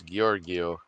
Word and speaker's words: Giorgio: asteroid worlds of araneo uh or Georgio I think it's hard G and we're doing so it's Giorgio and also samples of